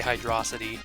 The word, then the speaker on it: Hydro City: Sonic Mania but yeah it's Hydro City and I say hydr City but honestly I don't really care if you say hydrosity Some people prefer to pronounce it this way and that's fine and it's not like I can stop you from saying it you have your reasons to pronounce it the way you want to and I'm just too